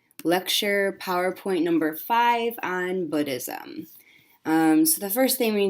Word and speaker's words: Buddhism: so it is Buddhism the vowel sound in Buddhism is the same as the vowel sound in the word good most people mispronounce it